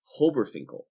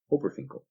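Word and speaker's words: HOBRFINCL: These diatomic molecules can best be remembered with the use of an acronym, Hobberfinkel, which is spelt H-O-B-R-F-I-N-C-L, Hobberfinkel.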